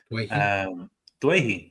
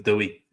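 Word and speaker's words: Doueihi: Dwayhe. Oh, that's how it's said, isn't it? I think so. I still hear people calling him Dewey.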